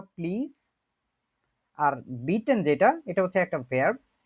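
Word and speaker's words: bitten: বিটে মানে হচ্ছে দয়া করে বা প্লিজ, আর বিটেন যেটা এটা হচ্ছে একটা ভার্ব, এটা মানেই হচ্ছে অনুরোধ করা। কেউ একজন উচ্চারণ করেন তো এই ভার্বটা।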